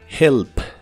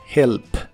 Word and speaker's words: help: help que significa ayudar la H se pronuncia como una J suave help help el auxiliar W con